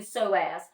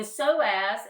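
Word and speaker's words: psoas: move up to the soaz the soaz is spelled PS o a s so the p is silent the soaz is in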